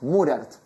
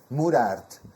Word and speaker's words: Moraert: Se pronuncia cómo Murart. Murart.